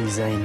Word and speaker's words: Zayn: And who'd have thought Zayn was that vain, even though Zayn rhymes with vain?